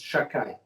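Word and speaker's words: שַׁדַּי: I'm going to mispronounce, right? It's Shakai.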